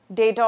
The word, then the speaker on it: data: So you can spend not more than 5 minutes understanding and interpreting the data or data. Both are appropriate pronunciations.